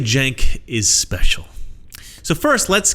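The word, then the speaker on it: Cenk: how do I put this let's just say Jenk is special so first let's get the pronunciation of his name out of the way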